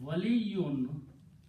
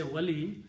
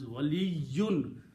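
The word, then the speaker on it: وَلِيٌّ: So now, Vaw, Lam and Ya and Waliyun means friend or guardian. Waliyun. We say Wali, but the full word is Waliyun. The Ya has to be pronounced with Shadda.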